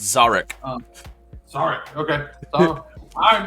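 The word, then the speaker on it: Szarekh: And today I'll be playing, I can never pronounce his first name, so I always call him the Silent King. It's Zarek.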